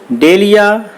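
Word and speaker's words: dahlia: डेलिया, इसमें H silent होता है, ध्यान रखें।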